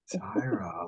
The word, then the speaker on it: Tyrah: Tyra but either no it's not Tyra like Tyra Banks because she's like mine got a little spice on it yeah yours is still yours p-y-r-a-h Tyra I like that I